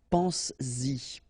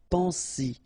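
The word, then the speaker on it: penses-y: But then if you put this Y, so this pronoun after, then you will have to put back this S, just to produce it orally, because you will pronounce it pense-y, pense-y, okay?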